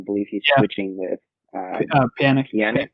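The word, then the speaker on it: Pjanić: Pjanic, is how you say his name, I think. I don't know if I butchered that or not.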